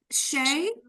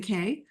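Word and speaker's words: Chae: And is that pronounced C-H-A-E? Do you go by Shay? Okay, close. Okay, but yeah. K. C-H Yeah, is like the letter. K, a hard K. Yeah. Okay. So, Kay, why don't you go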